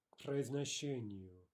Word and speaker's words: к произношению: To pronunciation, к произношению, right? No pause, no vowel after the ka, the k.